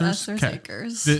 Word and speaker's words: Esther's Acres: Is that how you pronounce Esther's Acres? Yes, Esther's Acres. When you throw the STH together, it's hard to get it out. It's a tricky one.